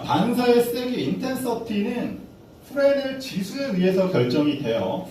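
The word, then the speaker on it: Fresnel: 자, 반사의 세기 인텐서티는 프레넬 지수에 의해서 결정이 돼요. 프레넬은 프랑스 물리학자인가 그래요. 뭐 제가 예전에 좀 영어 못 배웠을 때는 프레즈넬이라고 읽었었는데 S는 사람 이름이라고 묵음이라고 해요.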